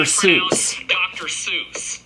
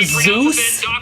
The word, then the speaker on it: Seuss: Seuss just fine to me. Dr. Seuss! I don't know, it's not that weird. Apparently he pronounces it Dr. Zeus.